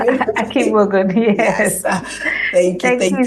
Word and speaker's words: Akigbogun: Am I pronouncing it? Akigbogun, yes.